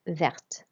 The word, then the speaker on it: verte: So we'd say un jean vert to say green jeans, but une veste verte. And you'll notice that we pronounce the T when it has an E at the end as well.